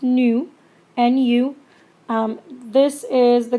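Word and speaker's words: ν: gets a symbol nu I know it looks like a V but it's actually pronounced nu and you this is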